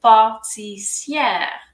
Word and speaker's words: pâtissière: যখন ম্যাসকুলিন, আর যখন ফেমিনিন তখন আমরা পুরোটাই উচ্চারণ করব। সো এটা তখন হয়ে যাবে pâtissière, pâtissier অথবা pâtissière হচ্ছে একজন পেস্ট্রি শেফ।